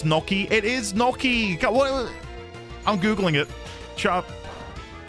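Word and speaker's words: gnocchi: Andy, please try to pronounce Noki. It is Noki.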